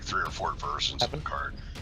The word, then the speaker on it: Karn: But it's like no no no it's not. It's K silver golem. It's spelled different. It's just K A R N. There's no KH.